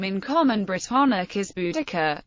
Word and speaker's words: Boudica: speaking of the name in common Briton is budaka pronounced B daar the closest English equivalent to the vowel in the first syllable is the a in bow and arrow the Modern English pronunciation is Bud ke and it has been suggested that the most